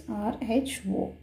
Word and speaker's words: rho: It is spelled as RHO, rho.